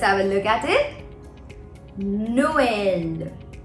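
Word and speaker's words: Noël: a look at it Noel Noel as you can see I am pronouncing o and E separately because of trema because of the two dots over the E so we pronounce it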